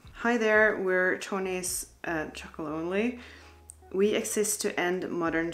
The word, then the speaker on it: Tony's Chocolonely: Chocolonely.